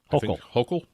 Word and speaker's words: Hochul: Hochul. That's how you pronounce it.